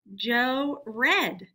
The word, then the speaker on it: read: this sentence he read Joe read okay that's the past tense pronunciation for read now we need to